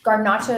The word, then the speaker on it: garnacha: most people have i think right and then pronounce it garnacha is how this the spanish pronounce it so